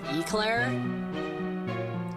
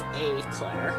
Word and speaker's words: Aclair: I always keep wanting to say her name is Eclair like the donut. But it's a Claire.